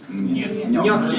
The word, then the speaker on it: gnocchi: We pronounce it gne. Gnocchi.